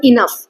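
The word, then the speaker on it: enough: इनफ इसमें एफ कहीं नहीं है। तो ओ यू जी एच जो है ना इसे हम फ का साउंड प्रोनाउंस करते हैं। ठीक है? राइम विद द जैसे पफ बोलते हैं ना वैसे इनफ पफ इनफ।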